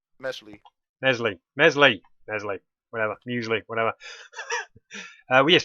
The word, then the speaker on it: Mesly: Melsley. So, Well, it's actually called pronounced Mesly, but what he said.